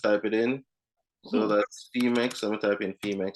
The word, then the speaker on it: Phemex: So How do you spell that one? Femex, that's PHEMEX.